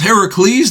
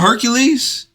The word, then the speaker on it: Heracles: legend of Heracles Heracles it's it's pronounced Heracles not Hercules am I tripping somebody